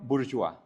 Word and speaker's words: Bourgeois: León burjois. Sí, la e no suena ni tampoco la s. Y el diptongo o i se pronuncia wa bur.